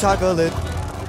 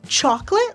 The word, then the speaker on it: chocolate: Well, there's chocolate, and there's chocolate. In the song, he says chocolate like bought or chocolate like box. They're close. The main difference is in your jaw height.